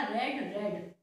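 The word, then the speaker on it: read: अब इसका जो सेकेंड और थर्ड प्रोनाउंसिएशन है वो होगा रेड रेड, रीड रीड रीड नहीं होगा, रीड रेड रेड, ठीक है।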